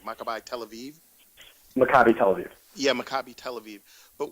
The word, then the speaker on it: Maccabi Tel Aviv: Do you feel that because he coached at is it how do you pronounce it, like Maccabi Tel Aviv? Maccabi Tel Aviv.